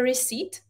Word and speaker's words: receipt: Pozor na to, tohleto slovo často studenti špatně vyslovují. Receipt je účtenka a vyslovuje se to tak, jak říkám. Recipe je recept, například na vaření, a píše se to recipe. Ale tohleto je recept, takže receipt, účtenka.